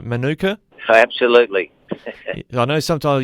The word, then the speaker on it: Manuka: First of all, have I got that pronunciation right, Manuka? Absolutely. I know sometimes I used to work in Canberra a bit, and Manuka is what they call one of the suburbs there, but it's definitely Manuka.